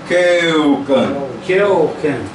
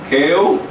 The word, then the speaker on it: keuken: No português, eu, você falasse Keuken. Isso, eu. Keuken. Ó, eu. Keuken.